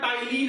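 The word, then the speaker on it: ptyalin: में नाम होता है टाइलिन एंजाइम, जहां पे पी साइलेंट होता है।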